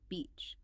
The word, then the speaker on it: beach: e vowel sound, like the vowel in sheep or sea or reach. Beach. Many learners worry about accidentally saying a rude word that sounds somewhat similar, but honestly, the context usually makes it crystal clear you're talking about the ocean. Just focus on that sustained bright long e sound.